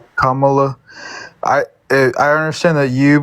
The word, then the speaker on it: Kamala: say again if you could correct me please Kamala Kamala I I understand that you believe I I'm